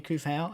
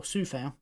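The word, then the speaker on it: Coufal: Now, scored by a player who was just having words with Vladimir Kufau, and that is, or Sufau, as it should be pronounced, Jack Grealish.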